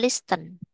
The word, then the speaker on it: listen: Cara banynya bukan listen, silenty. Silenty itu artinya t-nya tidak dibaca.